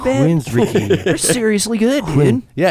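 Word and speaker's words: Queensrÿche: standing there Queens re you pronounce this queen you listen to that Queens Richie B Queen richy they're seriously good dude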